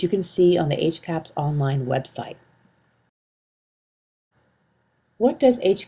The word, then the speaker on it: HCAHPS: healthcare providers and systems it is commonly pronounced HC caps what is HC caps